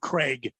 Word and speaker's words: Krieg: Dave Craig. Oh, Craig. I thought it was Krieg. Yeah, it's Craig. Yeah. It looks like Krieg. It's Dave Craig.